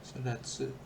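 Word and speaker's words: 育つ: Oh sodatsu bacanya sodat intinya sodatsu.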